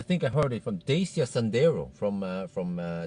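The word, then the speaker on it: Dacia: Desia. Huh? It's Deacia. Yeah, exactly. People disagree with how to pronounce it.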